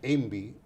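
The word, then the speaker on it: EMBI: Bien, el riesgo país se mide normalmente por una sigla que se pronuncia ENVI, que quiere decir el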